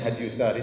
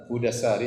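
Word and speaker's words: هدى الساري: Saya nukilkan dari kitab Hudassari, sebagian orang bacanya Hadyusari tetapi yang benar Hudassari, sebagaimana ditashkil, diberi harokat langsung oleh Ibnu Hajar rahimahullah, penulis buku.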